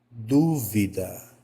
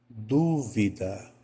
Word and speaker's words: dúvida: que eu pronunciei aqui tem a antepenúltima sílaba tônica e essa antepenúltima sílaba